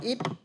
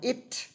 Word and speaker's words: it: không dễ đâu nhá Còn chữ này đa phần chúng ta sẽ đọc là ít các bạn đọc là ít nhưng mà muốn đọc đúng nó phải đọc là itt có chữ tờ cuối những cái âm cuối